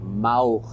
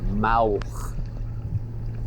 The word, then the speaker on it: Maouhk: So she said it was mauch. I wish I could pronounce it like she can, but it's quite guttural.